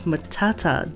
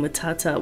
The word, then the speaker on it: matata: On the other hand, Pumbaa pronounces the T in matata with a true T sound, meaning it is pronounced with an air puff.